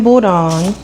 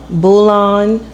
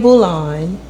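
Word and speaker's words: bouillon: water is some chicken bulld. I don't know if I'm saying it right. What is it? Bulon. I said with a D. It's no D. It's bull. Chicken bulan.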